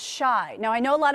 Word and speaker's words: Chi: Kim included instructions on Chicago's nickname, retweeting a post that read, "And to everyone who thinks it's literally pronounced chai, no, it's shy."